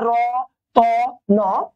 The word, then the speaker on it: রতন: তো এখানে তিনটি শব্দ ধ্বনি বর্ণ আছে না র ত ন দেখেন তো তার পূর্বে কি আছে র তার